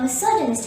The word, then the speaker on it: misogynist: but he hates women the word misogynist contains four syllables miss thor gamist miss organist the second syllable song is stressed here so say miss organist mrs gennis the third syllable contains a schwa misogynist misogynist in conclusion